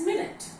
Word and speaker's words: minute: second more here is minute again once again the first winning is Jenny one unit of time as you all know the second one we pronounce it as minut and the second meaning